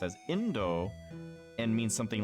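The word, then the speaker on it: 引導: She also mistook the characters that are pronounced as Indo and means something like requiem or last rites for the word Indo, which means India.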